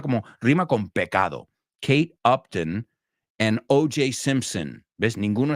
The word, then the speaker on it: Upton: And number 3, Kate Upton. Kate, not Uptown. Uptown is, as of once you get up past Central Park, that's Uptown. But this is Upton.